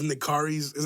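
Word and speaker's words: Nikarry's: these people that love in the car is how you say that restaurant in the car is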